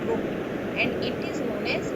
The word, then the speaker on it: rho: So here this constant is rho, spelling is RH, इसका pronunciation है rho, and it is known as specific resistance.